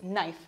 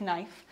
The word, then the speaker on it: knife: Remember here, we don't pronounce the K, it's knife, not knife.